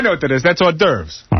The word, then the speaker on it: hors d'oeuvres: That's hors d'oeuvres.